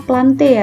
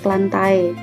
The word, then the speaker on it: Plantae: Nah, jadi ini membacanya Plantae ya, Nak, bukan Plantae.